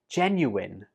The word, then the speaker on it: genuine: I hear some students pronounce this like genuine, but the last syllable in this word is pronounced in, not ein. So it goes like this. Genuine. Altogether, genuine. Genuine.